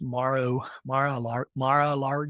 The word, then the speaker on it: Mar-a-Lago: We used to fly into Mar-a-Lago, and I think that's how it's pronounced, Mar-a-Lago.